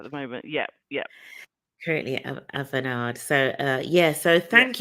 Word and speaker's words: Avanade: Currently at how do you pronounce it? Is it Avanade or Avanade? Avanade.